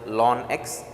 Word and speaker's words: ln: base e which is also called as lon X Ln X is how we pronounce it so Ln X the